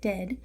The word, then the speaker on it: Ded: The etymology of this character is directly translated to grandfather, so Ded, D-E-H-D in pronunciation, Ded, and Moroz means frost.